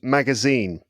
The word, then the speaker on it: magazine: about the word magazine? Magazine. It would be at the end.